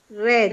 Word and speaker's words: read: read no cambia la escritura, pero la pronunciación sí. Red. Eso es trampa. Eso es trampa, yes. Pero read en pasado y en pasado participio ya se pronuncia como el color rojo.